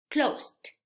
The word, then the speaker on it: closed: Bien, el último sonido no tiene vibración, entonces al agregar ed va a quedar la pronunciación closed.